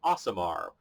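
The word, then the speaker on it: Aasimar: I didn't pick one at random, which is the Asamar.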